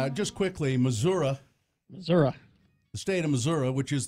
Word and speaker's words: Missouri: up well let's see just quickly Missouri Missouri state of Missouri which is the show-me state